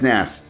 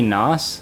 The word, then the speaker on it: NAS: in the felt so they pronounce that as Nast right yes Ness so I thought it was gonna be nos so I could insert